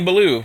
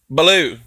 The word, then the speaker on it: Bellew: are telling me, like, you're pronouncing his name wrong, damn it. It's not Bellew. And I'm like, well, you know what? I'm from Texas, damn it, and that's how we say it. Blue, okay?